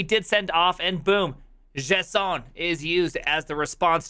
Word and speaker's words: JSON: JSON, JavaScript Object Notation, properly pronounced JSON.